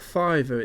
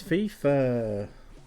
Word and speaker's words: FIFA: what bash bash F no it's not fiver it's FIFA it's FIFA who the [ __